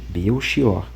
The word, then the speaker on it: Belchior: Na língua portuguesa, o correto é dizer beior e meu xior.